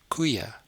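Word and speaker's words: koeie: other words as in the word for cow which is kui kui and the plural cows is kuya kuya so this word just gets an e at an H sound at the end as well so same as before we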